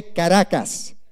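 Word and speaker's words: Caracas: walk through karakas Venezuela can you all say karakas very good I love it here because you guys can roll your RS and stuff so in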